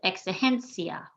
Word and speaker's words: exigencia: Same thing here with exigencia. The I and the A are making one sound at the end. We're emphasizing the second to last.